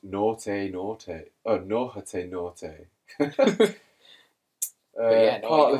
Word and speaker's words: Nortei Nortei: Pronounced Nortei Nortei.